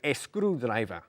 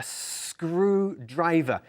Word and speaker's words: screwdriver: Be careful with the pronunciation. We don't say screwdriver. Y tampoco an screwdriver, okay? A screwdriver. You need to emphasize that S sound.